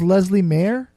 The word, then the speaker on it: Leslea Mair: my interview with Leslie Mayer your name is Leslie mayor is that yeah okay that's how you pronounce that yeah Leslie now and the name